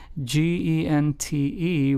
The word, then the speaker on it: gente: So, gente, g e n t e, which means people in Spanish, is pronounced as gente, like if it started with an H in English.